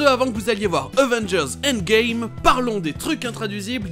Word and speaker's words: Avengers: Dans ce mot, c'est la deuxième syllabe qui est accentuée, donc on va avoir le premier A et le dernier E qui se prononcent E. Avengers. Avengers.